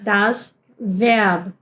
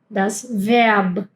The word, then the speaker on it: Verb: La V corta es como en español también sería V, V, serían los dientes de arriba, el labio de abajo, ¿bien? Que es como se pronuncia también en inglés. Pero como por ejemplo en la palabra das Verb, das Verb. Verb. Verb. No puedes decir Verb, no puedes decir Verb, eh eh Verb.